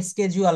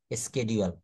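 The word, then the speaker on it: schedule: বলছে আমেরিকাতে আরেকরকম বলছে ব্রিটেনরা কিন্তু ব্রিটিশরা আরেকরকম বলছে এটা হচ্ছে স্কেজুয়াল আর আমরা সেটাকে বলি সিডিউল ওরা লেখার সময় কিন্তু আবার ঠিকঠাক মতো লিখবে এস সি এইচই ডি ইউ এলই সিডিউলটা লিখবে কিন্তু উচ্চারণ করার সময় বলছে স্কেডিজউয়াল যাই হোক তো দেখেন এখানে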